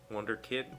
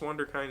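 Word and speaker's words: Wunderkind: without his father's connections Wonder kind w u n d e r k i n d that's what this pronunciation kid key says I've always heard Wonder kid no I guess Wonder kind is correct I don't know that's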